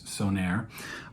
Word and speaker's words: Söner: brand I had to look up how to pronounce it it's sonir um and yeah it's pretty great uh we'll get into all that shortly but the brand itself sonir is started in 2016 and the brand owner